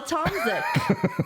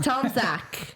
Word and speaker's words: Tomzik: Tomzik, right? No, that's wrong. Tom Zach.